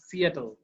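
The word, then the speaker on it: Seattle: ডিড you write the dash when you wire in সিয়াটল। এটার উচ্চারণ কিন্তু সেটল না, সিয়াটল।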